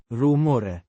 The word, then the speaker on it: rumore: Pronounced Roo-mo-reh. with the stress on the. Mo.